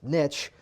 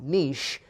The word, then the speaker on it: niche: by the way again it's niche not niche because niche rhymes with rich so you could be